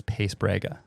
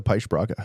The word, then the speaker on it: Paes-Braga: sounds like you know the North American uh announce or a pronunciation of it is pace brega I prefer the push broadcast thanks man yeah my